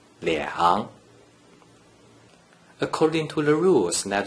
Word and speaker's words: 两: According to the rule that you just learned, a single digit 2 without any other digits in the third green circle is pronounced 两.